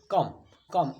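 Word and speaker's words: comb: ठीक वैसे ही है य पर बी को साइलेंट कर देंगे इसको मुख रखने देंगे और पढ़ेंगे कम झटके से पढ़ेंगे कम कम मतलब आने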